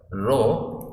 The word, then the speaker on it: rho: The ratio of dQ by dV we represent as rho, so it's pronounced as rho, RHO.